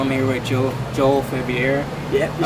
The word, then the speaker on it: Faviere: wall street journal i'm here with joe joel february yep you said it right i'm impressed dude